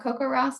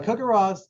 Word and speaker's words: CoCoRaHS: service he's going to talk to us about coco ross and what happens to the data once it's